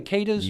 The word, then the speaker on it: Cadiz: Did I pronounce that correctly? Cadiz? You did.